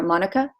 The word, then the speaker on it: manuka: I use it with frankincense and manuka, or monica is how they pronounce it.